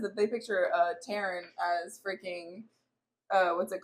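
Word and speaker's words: Tairn: Tarn Taran will be a picture from uh it's No, it's Taran. That's literally how the whole Phandom pronounces it. And Rebecca Yaros pronounces it.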